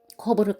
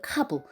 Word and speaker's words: 커브: 일본식 발음에도 익숙해져 있는 슬라이더를 스라이다, 커브를 카브, 오버스를 오바스로라고 발음하는 이도 있다.